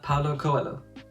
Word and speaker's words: Paulo Coelho: alchemist the fable-like novella written by Brazilian author Paulo Coelho yeah that's how we pronounce that I've read this book of big